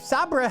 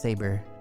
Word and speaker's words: saber: The sharp sabra have more attack, but I bet it has lower accuracy. Let's buy the sharp sabra. I know it's pronounced saber, but I'm having fun.